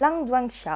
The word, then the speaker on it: 狼殿下: Je crois que ça se prononce Lang Duanxia, à peu près.